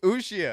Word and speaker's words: Uxia: Uxia. I think the accent is on the I, so Uxia.